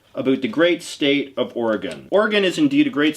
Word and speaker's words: Oregon: own and now we have a parcel from Oregon or Oregon as I grew up pronouncing it every two years since 1911 the